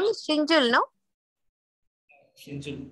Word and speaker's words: Shinjul: His name is Shinjul, no? Shinjul, correct. How do you spell it?